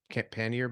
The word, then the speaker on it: pannier: cool so like uh correct me when I pronounce it in incorrectly pen pannier pannier bags yes okay yeah so the